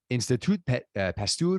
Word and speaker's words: Institut Pasteur: She serves as an advisor at the famed, now this is my French game here on full display, Institut Pasteur Paris, which is probably wrong in pronunciation.